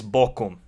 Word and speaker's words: Bochum: Look, people, it is, for the last time, it is Bochum.